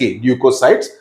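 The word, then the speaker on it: leucocytes: ल्यूकोसाइट्स. कुछ किताबों में LEUKO भी स्पेलिंग यूज होता है, but that's okay. Generally this is the better one, C being pronounced as K. ल्यूकोसाइट्स.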